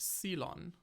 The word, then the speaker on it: Ceylon: Also, apparently it's pronounced Ceylon. Ceylon, okay.